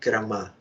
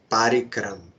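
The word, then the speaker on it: परम: writing above last a there is line on top so proper pronunciation is parama and shilak Maharaj also when speaking Kik he said parama it is not paric like many Western devotees they're saying paric it is paric St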